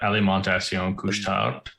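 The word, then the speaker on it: Alimentation Couche-Tard: pronounce this steven will have a better time pronouncing this it's uh ali montacion couch town there you go perfect just like that uh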